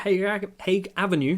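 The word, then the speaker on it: Haig Avenue: i guess we're still gonna be playing at hague avenue that's how it's said for the foreseeable future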